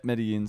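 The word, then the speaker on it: Medellín: Medellin's how you properly pronounce it. But there. I always, what's that? Yeah, but no, some Spanish accents you go zh. Yeah. For the double L. Other times it's just silent, right?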